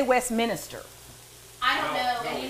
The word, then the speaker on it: Westminster: To correct them and be like, Westminster? Yeah, down in Westminster. There's not an extra I. Why? You're from here. Westminster.